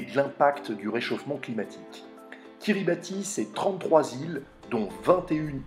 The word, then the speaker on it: Kiribati: Direction KIRIBATI Bienvenue dans l'archipel de KIRIBATI qui se prononce également kiribeth Bienvenue dans une Nation